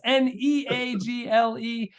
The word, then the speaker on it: Neagle: That's Neagle. It's spelled like beagle, but pronounced like bagel.